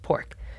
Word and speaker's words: Poruk: I sort of insisted that we spell it pork, normally not P-O-R, K or Q. I was like, come on, just pork.